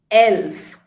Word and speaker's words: elf: And elf. Elf is the number 11. 11 is elf. So E is pronounced as A in German, and it's English and elf.